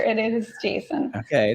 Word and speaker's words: JSON: It's like it's the name according to the creator. It is Jason.